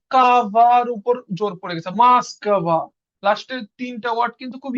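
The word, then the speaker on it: Москва: দেখা দিছে খারা উচ্চারণের সময় এর মত যেমন মসকবা এখানে উচ্চারণ ও কিন্তু এখানে কাবার উপর জোর পড়ে গেছে মাসকবা লাস্টের তিনটা ওয়ার্ড কিন্তু খুব ইজিলি বোঝা যাচ্ছে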